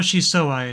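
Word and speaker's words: 相愛: Watashi to oiwa yeah SOI SOI soai is how you would pronounce that which means mutual love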